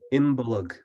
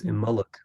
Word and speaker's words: Imbolc: So the word is pronounced with 3 syllables, and you can pronounce it in in two ways. So if you want to go with a more ancient pronunciation, you can say Imbolc. But if you want to use a modern pronunciation, the B sound drops, and it's Imbolc.